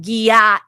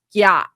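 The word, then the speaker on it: gyat: And then uh but then he'll say it's not gu mom, it's gat. All right. Like one and a half syllables.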